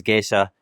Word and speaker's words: Gesha: the I in there, so geisha made it 3 syllables. And now it's kind of a misnomer, although both ways are acceptable, certainly. With our Ethiopian roots, knowing where the name came from originally, we stick to the 2 syllables and the Gesha spelling.